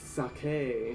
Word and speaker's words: sake: you the whatever shuffle said sake wrong it's suck hey who suck hey I